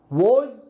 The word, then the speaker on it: was: it was واو ألف ثم ز، ليست ليست was لا was بالزاي. لماذا؟ خلاص هي نطقها هكذا، يعني هي تكتب هكذا، لكن عندما يعني مع السنين أصبحت تنطق was وليست was. صحيح أن هذا سين لكن was.